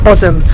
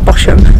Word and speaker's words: Bosham: key next up and we're in bosom not bosham as the train people always call it muslim as the locals say visit here and you